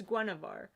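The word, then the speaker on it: Guenhwyvar: panthers name sounds like genevieve but it's it's guanavara you mean it's spelled like gueneves it's spelled really weird it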